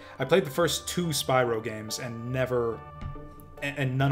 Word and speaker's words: Spyro: Or I've played the first two or is it pronounced Spyro? I think I learned way late. Whatever, it's Spyro. It's always been Spyro.